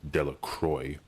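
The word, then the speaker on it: Delacroix: Harry Jones mcki delacroy the villagers pronounced his name delacroy eventually made a great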